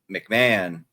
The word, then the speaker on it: McMahon: And I can't believe I now uh Julian McMahon or Maham I can't even pronounce his is it Mc it's McMahon McMahon because they throw an extra H in there.